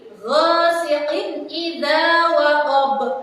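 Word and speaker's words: غَاسِقٍ إِذَا وَقَبَ: Saya ulang, ghasiqin idza waqab. Sekali lagi, ghasiqin idza waqab. Harus dibaca jelas, tidak boleh dibaca seperti ini. Ghasiqin idza waqab. Salah ya, jadi harus dibaca dengan jelas seperti itu.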